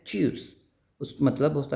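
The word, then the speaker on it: tschüss: German word होता है चस उस मतलब होता है उसका बाय बाय सो उसमें ये वर्ड्स आते हैं टी एस सी एच और उसको प्रोनाउंस क्या करते हैं च वैसे ही एस सी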